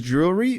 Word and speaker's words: jewel: spelling yeah even there's jewelry but let's start with the more simple Jewel which is J and then like a o o o sound like a double O and an l sound Jewel and if you want